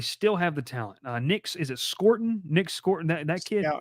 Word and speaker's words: Scourton: Nick Scorton? Nick Scorton, that kid. I think Scourton, I think is how you say it.